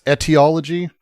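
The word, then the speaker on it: etiology: It's eeteology, but I think he does say ide.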